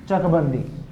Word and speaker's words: चकबंदी: ठीक है, क साइलेंट हो गया ना, चकबंदी।